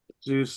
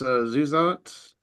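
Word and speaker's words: Zusatz: Got a actually, long Zeus that, so what's that? got a long keep I know people keep pronouncing it, but it's Zuzat.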